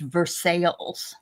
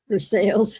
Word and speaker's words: Versailles: There is a Versailles in Kentucky, but it's pronounced Versailles. Versailles. Oh my god. Somebody didn't know how to pronounce. No, they didn't know how to say sales.